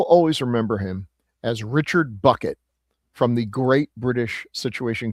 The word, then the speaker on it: Bucket: And she, of course, insists that their name is pronounced Bouquet. So she's Hyacinth Bouquet instead of Hyacinth Bucket.